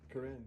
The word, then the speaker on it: Corinne: Corinne, yeah.